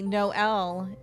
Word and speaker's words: Noel: Finally, Noel is here. Oh, is that her name? Is that my name? The 9-year-old girl puts an emphasis on the two syllables of my name.